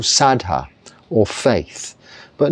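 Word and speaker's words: saddhā: But what the Buddha taught and how it is taught is that saddha, or shraddha as they pronounce it, I think, here and say it, they use a lot of, it sounds like Sanskrit here, even though we have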